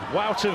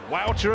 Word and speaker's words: Wouter: Wouter Vaes, and I promise you, I've checked the pronunciation, it is that. Wouter as in outer, Vaes as in Keith, and he is the big outsider here.